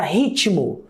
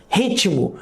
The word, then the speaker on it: ritmo: Um outro exemplo, se eu pegar a palavra ritmo, ritmo, eu tenho um T e um M, mas eu pronuncio um I entre esse T e M.